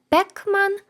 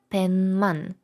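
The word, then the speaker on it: 백만: але вимовляємо М сімман 1 мільон пишеться пекман але вимовляється пенман пенман знову ж таки Асиміляція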